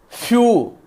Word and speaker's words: phew: And the few, PHEW, few, that's the pronunciation, and it is a